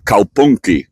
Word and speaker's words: kaupunki: The word for city in Finnish is kaupunki, right? And you have to say it like you're from Finland, right? Kaupunki.